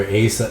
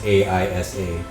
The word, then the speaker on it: Aisa: they were in Skypiea, you remember Asa? I don't know how to pronounce her name. It's Aisa. The little girl, the Shandorian.